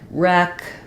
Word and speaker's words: wreck: uh wretch Etc that W is a hold over from a a previous spelling and pronunciation so you can just think of it as not even making any sound there so we're starting